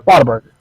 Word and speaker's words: Whataburger: it is said properly when you say Whataburger, because you gotta say it like a country. Yeah. Waterburger. Like the burger's made out of water, but it's not.